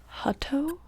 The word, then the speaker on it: Hutto: oh I don't know how to say this Hutto Hutto Texas one moment while I Google this